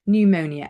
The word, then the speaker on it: pneumonia: infection in the lungs pneumonia again we don't pronounce the P then we have S